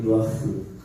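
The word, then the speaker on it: רוח: 흐 발음은 가래 끓는 소리. 루아흐.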